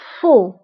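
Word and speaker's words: faux: ضدها هو خطأ أو فو خطأ أو فو دونك صحيح فغي خطأ فو وانتبهوا بالنسبة لفو كنكتبوها بإكس آخر الكلمة لكنها لا تنطق فو سهل فاسيل فاسيل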